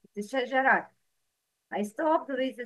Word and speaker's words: شجرة: Ta marbuta is pronounced ha in stopping, like أَذَلِكَ خَيْرٌ نُزُلًا أَمْ شَجَرَةً.